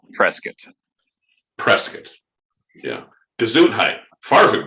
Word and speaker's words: Prescott: and to all those listeners out there it's pronounced prescott it's not prescott even it's spelled that way if you're a local it's prescott just like melbourne it's not melbourne it's smelt